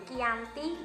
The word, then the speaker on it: Giyanti: yakni di desa cantik dalam pelafalan Belanda disebut dengan kiyanti yang sarat ketulis kiyanti